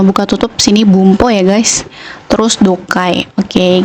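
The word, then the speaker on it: 文法: Bung sama ho ya Ho tapi karena ini e jadi satu kalimat Jadi dibacanya bumpo ya guys Bung ini adalah artinya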